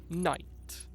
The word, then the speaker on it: knight: like, when you have silent letters in a word, it's like knight, yeah, with a K, yeah, like riding on a horseback knight, a knight in shining armor. Why is there a K there?